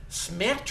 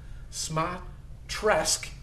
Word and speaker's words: Smatresk: that guy's last name my least favorites rhymes with mattress uh and of course people like to add syllables to my name so it's variously been mispronounced pronounced smates smes is the proper pronunciation and I'm going to